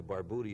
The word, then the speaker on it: Barbutti: use the bar beauty but technically in Italian there are no long use in any of the Latin languages you know Spanish Greek right so technically bar booty is the correct ethnic way of pronouncing it but I've never made